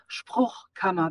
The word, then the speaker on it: Spruchkammer: It's Spruchkammer. That's the fricative. That Spruchkammer. Spruchkammer. Spruchkammer.